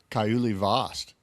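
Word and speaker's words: Kauli Vaast: Kaiuli Vost, our Olympic gold medalist, who's proven he can surf in anything.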